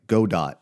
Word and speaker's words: Godot: heard it's pronounced like the creators call it like go dot like robot like is how they pronounced it.